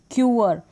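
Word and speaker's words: queer: क्यू जो है इसका प्रोनाउंसिएशन होता है आधा क और व, क्व होता है क्यूअर, इसको आप पढ़ेंगे क्यूअर।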